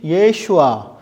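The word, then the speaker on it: ישוע: 이스라엘 사람들, 히브리 사람들이 발음을 하면 이 단어를요, 뭐라고 말하냐면 예슈아, 여호수아 이렇게 발음을 하는 겁니다.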